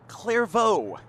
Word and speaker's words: Clairvaux: On 1st and 10, it's Jaden Clairvaux. Say it like a Cajun, he says.